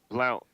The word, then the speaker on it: Blount: your last name man Blount Blount okay I I was saying blown I'm I'm I'm almost